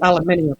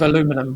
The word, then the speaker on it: aluminium: say oregano yeah oh how funny we say aluminium as well Alum what is it instead of aluminum we say aluminium oh aluminium okay all right